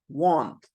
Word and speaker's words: want: O then spelled o but you also have exceptions where you have a or a and u for the exactly the same sound watch watch want want sausage sausage because because